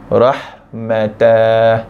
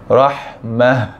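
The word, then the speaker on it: رحمة: Macam ini tadi bukan baca dengan rahmatah. Tapi bacaan betulnya adalah rahmah. Dan bukan rahmat rahmah.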